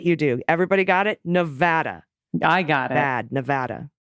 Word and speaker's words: Nevada: a commercial done on how to pronounce it Nevada where VOD rhymes with bad is the correct way nevadans look I already